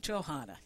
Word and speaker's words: Johana: And is that pronouncing correctly? I should do it Johanna.